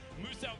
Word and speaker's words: Muso: Now, Muso wants you to know his name is pronounced as Muso, the Australian-based content creator down there.